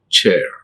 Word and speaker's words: chair: C-H-E-I-R, many people they pronounce chair. It's wrong. How can we pronounce chair? It's highly impossible. We should not pronounce. There is a diphthong. This is air, chair, chair, not the chair, chair.